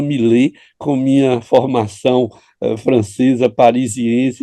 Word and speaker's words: Milet: Eu continuo pronunciando Millet com minha formação francesa, parisiense, eu acho que é Millet e não Millet, mas nós não vamos brigar por causa disso, viu?